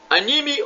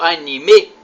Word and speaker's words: anime: Anime ou anime?